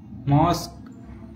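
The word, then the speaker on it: mosque: जब किसी वर्ड के लास्ट में क्यू यू ई लेटर एक साथ आता है तो क्यू यू ई में क्यू का उच्चारण हम का से करते हैं। जैसे यूनिक, ऑब्लिक, मॉस्क, फिजिक।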